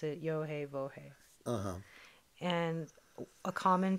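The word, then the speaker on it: יהוה: So today, they pronounce the letter Yah, Ha, and then instead of Va, they use Ooh, Ah. Yes. I love the way it sounds. Okay, we use Yohe Bohe as a starting.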